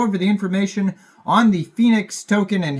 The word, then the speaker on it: PHNIX: the Phoenix token Now Phoenix is spelled pH niix and that is the name and the ticker symbol